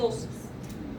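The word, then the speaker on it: ptosis: La exploración física muestra caída de los párpados superiores o tosis. P-T-O-S-I-C. Tosis, no lo puedo pronunciar. Tosis. P-T-O-S-I-S. Tosis.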